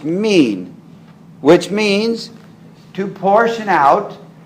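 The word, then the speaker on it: מין: The Hebrew word for kind is min. That's how it's pronounced in English. And it's spelled M-I-Y-N in English. Pronounced min.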